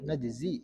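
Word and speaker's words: نجزي: Kadzalika kama jazainahum, kadzalika najzi, ya kalau kita membacanya, kadzalika najzi kull kafur, kafir bil ya'i wan nun. Jadi kita membacanya dengan nun ya, najzi mutakallim.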